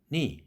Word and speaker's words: knee: 라고 많은 예를 들겠지만 그때에는 그 사운드가 사일런트가 됩니다. knife, knock, knee 이런 식이죠.